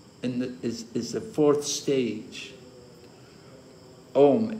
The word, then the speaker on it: Om: Om, A-U-M, the three syllables. So Om, actually sometimes said one syllable. Om, Hari Om, three syllables, four syllables.